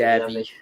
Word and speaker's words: Xavi: Uh, I don't know how you pronounce it, Jabi, or do you call it Zabi? Uh, I call him XAB, Xavi. I say Javi, Xavi. Javi.